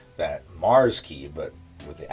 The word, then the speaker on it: Mxrskey: out that Mars key I read somewhere that that's that's how it's supposed to be pronounced because before I was doing mixers key I didn't know but the x is supposed to be a replacement for the a Mars key so so this is